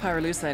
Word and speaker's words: pyrolusite: You know what pyrolusite is, right? Yeah, neither did I. Pyrolusite, key syllable pyro, by the way, is